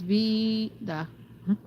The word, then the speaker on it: Veda: Like for example, my name would be V E E D A H. So that you get the point that it's V D.